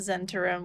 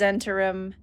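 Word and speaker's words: Zhentarim: uh it's about the Zen to room which I now know I was pronouncing wrong because the wiki had things very confusingly written on how to pronounce some of these words it is zentarim I'm gonna regret that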